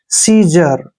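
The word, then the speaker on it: seizure: क्या पढ़ते हैं स और ई आई को हम लिखेंगे बड़ी ई की मात्रा जेड यू का उच्चारण य ज करेंगे और आर ई को र लिखेंगे ऐसे सीजर सीजर होता है दाग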